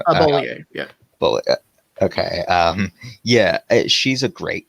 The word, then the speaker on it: Bollier: Barbara Boye, I never know how to pronounce her last name. Bollier, yeah.